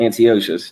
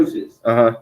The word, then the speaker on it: Antiochus: Antiochus. No sweat. Antiochus.